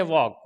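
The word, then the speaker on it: walk: है इसी तरीके से वॉक वॉक के अंदर भी क्या है के से पहले एल ए गया तो एल साइलेंट हो गया इसी तरीके से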